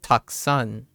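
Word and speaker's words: 沢山: So taksan. So it's taku sa taku sa but when you read it, it sounds like taksan.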